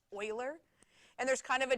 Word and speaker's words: Euler: Euler's constant which looks like it should be pronounced uhler but he Swiss and it's pronounced Euler and there's kind of a joke that you're